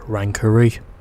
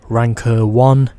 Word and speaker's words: Ranker 1: I now know it's not pronounced Rankery, but Sue finished 5th in the Ranker 1.